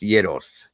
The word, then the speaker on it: gyros: They are pronounced gyros.